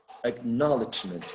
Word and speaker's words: acknowledgement: no knowledge act knowledge acknowledgement right so acknowledgement would be stressed on the second syllable is that true or